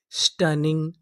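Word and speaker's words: stunning: अगर आपको इंग्लिश के किसी भी मीनिंग में कोई अक्षर 2 बार लिखा मिले तो हम लोग उसका उच्चारण 1 बार करते हैं।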